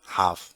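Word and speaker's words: half: Self self में तो है इधर हाफ इसमें मिसिंग है।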